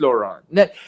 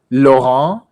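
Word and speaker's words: Loránd: So in Hungarian, it is pronounced Lorand with a long O Lorand. and a long. Lorand. No, not Laurent.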